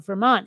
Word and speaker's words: Vermont: What little of my Vermont accent I retain is not pronouncing my T's, right? Because it's not Vermont, it's Vermont, right?